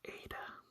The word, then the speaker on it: eta: So Eta is similar to the sound in bed, but held longer.